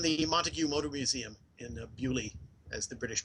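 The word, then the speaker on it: Beaulieu: So they're in the Montague Motor Museum in Bewley, as the British pronounce Bayou.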